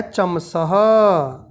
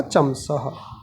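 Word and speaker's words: चमसः: फिर आता है चमसह। चमस बोल सकते थे लेकिन विसर्ग लगने पे उसका उच्चारण होगा चमसह।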